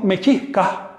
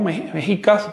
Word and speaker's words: Mexicas: Así que los mechiscas se llamaban así mismo, así mechiscas. Hoy le llamamos mexicas, mexicanos, como ustedes quieran.